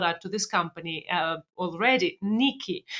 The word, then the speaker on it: Knickey: Nikki. It's spelled Knickey. Yeah, Nikki.